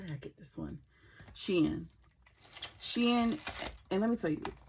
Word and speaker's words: Shein: And funny story, I don't know how funny, but funny to me, I went to UPS today to return a Shein package, and the guy was like, "Is Amazon?